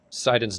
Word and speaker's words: Sidon: Sidon's name is a play on Poseidon. So that's how I'm sure I know how to pronounce it. Yeah. Just like Poseidon.